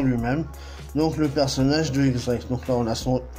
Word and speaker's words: X-Drake: X-Drake, dont le X se prononce dièse, comme 10 en espagnol, est le fils de X-Barrels, un ancien officier de la marine qui devint lui aussi pirate.